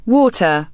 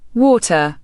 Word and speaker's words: water: In American English, the letter T often sounds like a soft D when it's between two vowels. This is known as a flap T. American, water, right pointing arrow, dear.